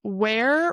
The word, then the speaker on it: where: So where rhymes with air were where were rhymes with her. So where were you open the mouth more for where I have a shirt with that sentence from my yoga teacher.